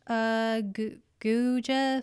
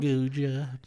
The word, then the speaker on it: Guga: There's a guy named Guja Foods. I don't know how you say it. It's G-U. Guja. It's spelled Guga Foods, and all he does is like cook steaks, and it's really cool.